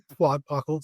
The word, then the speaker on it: Twadpockle: And so the proper pronunciation, there's a little puff of air after the T, because it's like you're spitting it. Twadpockle.